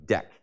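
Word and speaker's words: deque: a deck, which is typically spelled D-E-Q-U-E, deck, but it's pronounced like the deck of a ship.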